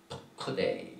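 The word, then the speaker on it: פקודי: 곧 증거막을 위하여 레위 사람의 쓴 재료의 물목은 제사장 아하론의 아들 이타말이 모세의 명대로 계산하였으며, 이 계산이라는 말 푸크데이 이렇게 발음을 합니다.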